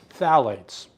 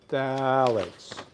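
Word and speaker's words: phthalates: Phalates. Okay. Right there. Phalates. Just ignore the P there. The P is silent.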